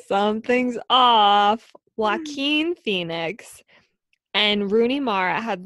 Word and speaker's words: Joaquin: Jaquane. I didn't say his name right, did I? No. Joaquin.